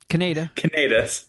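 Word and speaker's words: Kaneda: Canada. Canada's. All right. Canada, if you want to pronounce it like how the Japanese would.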